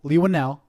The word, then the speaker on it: Leigh Whannell: you'll love upgrade okay so leave one now Leigh Whannell I'm pre that's how it's pronounced he so he's an Australian director he's